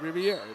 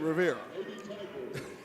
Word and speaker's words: Riviera: You know, it's Riviera. It's spelled just like the French, Riviera. Mm-hmm. We call it Riviera.